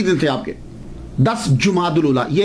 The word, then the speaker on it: جمادی: تھے آپ کے، 10 جمادی الاولی، یہ اکثر ہمارے ہاں مشہور ہو گیا ہے جمادی الثانی، جیم کے اوپر زبر نہیں ہے، جیم کے اوپر پیش ہے.